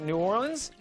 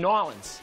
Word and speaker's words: New Orleans: Why are there three different pronunciations of New Orleans? There's New Orleans, New Orleans, and Nolens. Well, Nolens is for somebody that's actually from there.